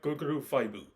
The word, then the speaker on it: Goggle V: and today I'm going to review day Sentai guguru fibu well it's really nice that I send like